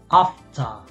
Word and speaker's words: after: Ah, cuando tengo ER, especialmente al final de palabra, se pronuncia como una A, como A, una A larga. Por ejemplo, after, after. ¿Vale? After. Es verdad que en algunos acentos, como el americano o el irlandés, la R sí que se pronuncia y suena más como after, after. De todas formas, yo te lo pronuncio como un británico.